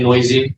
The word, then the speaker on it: NOEASY: Oh, you can say noisy. It's Noisy. fine. Whatever you're comfortable with.